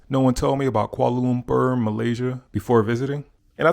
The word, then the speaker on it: Kuala Lumpur: to five things no one told me about Kuala Lumpur Malaysia before visiting and I think I said that correctly Kuala Lumpur I know in the videos I was saying